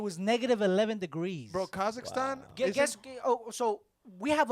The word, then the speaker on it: Kazakhstan: where we're going to kakistan or sorry no disrespect no disrespect kakan Kazakhstan say it right M Kazakhstan no disrespect I think